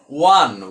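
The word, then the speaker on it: one: এখন যে বিষয়টা হলো একটু ডিফারেন্ট, অর্থাৎ ভিন্ন, যে ওর ওর উচ্চারণ যদি ওয়া হয় তাহলে আমরা সেখানে এ বসাই। যেমন আই হ্যাভ 1 টাকা নোট, তো যেহেতু এখানে ওর উচ্চারণ দেখুন ও আসলে হয়নি, এখানে ওয়ান ওয়ান হয়েছে এই জন্য এখানে এ হয়েছে।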